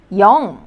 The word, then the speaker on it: 영: The first syllable, you could pronounce the vowel first, 여. And then, now that circle looking like consonant was used as the second consonant, so it is going to be pronounced as 응. So, 영.